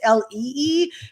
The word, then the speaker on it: Leigh: don't know me well my Mommy gave me extra letters in my first name so it's pronounced Le but it's spelled with